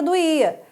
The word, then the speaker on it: doía: Eu vou separar a palavra doía. A palavra do, e a. Eu tenho o que aqui? Eu tenho uma palavra que é paroxítona. A penúltima sílaba é que é mais forte, né?